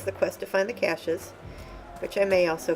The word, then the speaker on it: cache: So I always thought it was cache. Apparently it's cache.